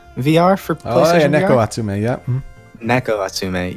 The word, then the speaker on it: Neko Atsume: really jump out at you I think you pronounce it neko atsume VR for neko atsume yep neck OS to me yeah Abby loves